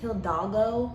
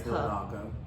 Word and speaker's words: Hidalgo: So the Harris County Judge Hidalgo, I believe that's how you say her name. Yeah, it is Hidalgo or something like that.